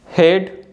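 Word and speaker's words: head: The letter A इज not pronounced in the combination of EA। जो letter ए है अगर ई के बाद आता है तो ए को हम नहीं बोलते हैं, ए साइलेंट होता है।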